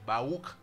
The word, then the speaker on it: Barouk: Mais la personne le béni, Barouk, R-U-K, tu me prends. Prononciation Barouk veut dire le béni.